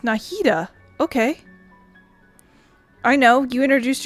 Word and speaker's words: Nahida: Oh, it's pronounced Nahida.